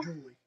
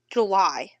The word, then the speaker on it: Julie: Julie. I thought you said, it says July. Julie. Maybe it is Julie. That is Julie. Shut up. It's spelled July, but that's, It's Julie Ann, now I see it.